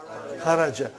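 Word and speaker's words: خرج: Say it properly. Kharaj. With sukun. You won't say with? You will say kharaj.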